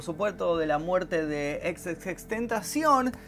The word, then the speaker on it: XXXTentacion: estamos hablando por supuesto de la muerte de ex ex tentación y convencidísimo que así se pronuncia el nombre he visto a gente corrigiéndome